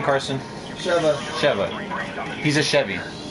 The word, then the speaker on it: Sheva: Sheva.